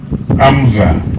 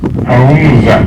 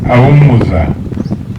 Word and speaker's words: Aumza: Bridget Amza. Aumza. Don't worry about the pronunciation. That is Aumza, and 5 children, as indicated below.